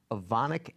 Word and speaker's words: Evonik: thing on this which sounds fairly complicated the Evonik acrylate lighting technology nice job pronouncing that that's accurate so this is a